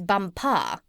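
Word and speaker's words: Bumpah: there as the Crown Princess bumpa you accent the last syllable and tell me did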